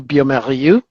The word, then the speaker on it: bioMérieux: So in English we pronounce the bio as bio, but in French they pronounce it bio. So the French pronunciation would be biomérieux, and in English we say it Biomedical.